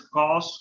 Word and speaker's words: cos: Generally, we will pronounce as cos A. Cos A. That means this meaning is cosine of angle A. We will write as cos A, and we will read as also cos A, which is known as